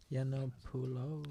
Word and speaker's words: Yiannopoulos: Yiannopoulos.